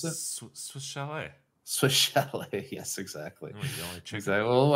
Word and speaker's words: Swiss Chalet: no s sale shal isn't that how you pronounce it Swiss Chalet Swiss chal yes exactly well I thought you